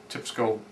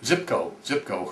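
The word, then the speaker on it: Tsypko: And I really wonder why Andrade didn't, when he had Tipsko, I hope I'm not saying that wrong, Zipko hurt. I keep forgetting the Russians don't pronounce the T in the front of the name.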